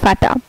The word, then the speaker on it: Vater: যেমন VATER, ফাটা, এই যে VA ফা, TER টা, ফাটা।